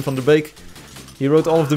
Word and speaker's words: Van der Beek: I've got the Tim Van Der Beek's if you pronounce his name in the English if you pronounce it in Dutch it's Tim from the bake he wrote all of